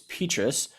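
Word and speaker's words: Petras: was monday night and was told that i mispronounced um petrus's name it's petrus so apologies out there spencer petrus my bad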